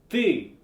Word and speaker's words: ты: In our last lesson about the alphabet and about pronunciation, I told you that in English, we don't have this sound, so it's difficult to pronounce.